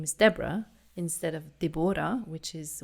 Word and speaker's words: Deborah: It's like, no, there's an H at the end. That's why it's spelled. That's why it's pronounced Deborah, not Deborah.